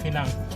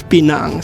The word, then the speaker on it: Pinang: Pinang is bahasa Malay and pinang but our local Chinese Penang. Penang. Okay. Okay. It's okay. So guys, it's pinang. So the right pronunciation is pinang. It's not pinang.